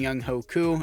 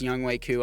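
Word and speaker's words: Younghoe Koo: Scott as our punter and Young Ho Koo. I know it's pronounced Young Wei Koo. I'm just going to continue to pronounce it Young Ho Koo for kicks and giggles, but why not, guys?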